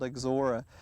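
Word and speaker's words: Ixora: it looks very interesting and and difficult to pronounce but again it's called exora this particular variety is Maui and usually you'll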